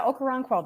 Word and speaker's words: Okoronkwo: I know I'm going to say this guy's name wrong, Ogbonnia Okoronkwo, is that how you say it? Yeah, Okoronkwo, that's good.